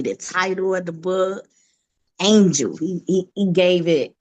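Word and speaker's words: Angel-a: title of the book Angel he he he gave it the spelling because it's it's not how you spell angel you know the A on the end is silent it's silent for a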